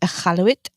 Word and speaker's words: Iqaluit: So, I got this hat when I went to, okay, I used to not say it properly, but I went to Iqaluit and, with the Arctic Comedy Festival, Oh, nice.